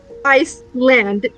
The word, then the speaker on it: Iceland: So here's a good way for you guys to say her name. Iceland. Just think of the country.